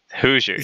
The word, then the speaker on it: Hoosiers: Hoosiers. Hoosiers. Okay, cool. You should know that. Should I? Yes, you should. It's Hoosiers, and it's a silent H, or not H, but silent.